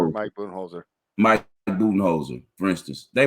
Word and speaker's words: Budenholzer: So, like look at Budenholzer. How you pronounce his name? Budenholzer. Mike Budenholzer.